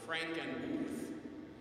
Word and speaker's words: Frankenmuth: Last January I was called up to Frankenmuth, Michigan, and up there it's pronounced Frankenmuth, to play a recital at St.